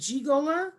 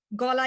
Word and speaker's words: Golla: I say it Golla? Golla, you got it perfect.